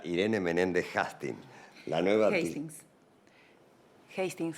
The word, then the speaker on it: Hastings: Hastings. Hastings. Se pronuncia Hastings porque es escocés.